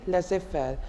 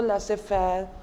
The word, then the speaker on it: laissez-faire: fellow let us find a know it's simply laissez-faire I'm telling you why it comes from a